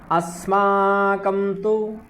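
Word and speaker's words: अस्माकम्: उनको दजो कहा ठीक अस्मा कम अस्मा कम अस्माकं ऐसा भी कर सकते हैं आपका अगर उच्चारण और कृष्ट करना है और शुद्ध करना है तो अस्माकं अस्माकं तुय विशिष्टा ठीक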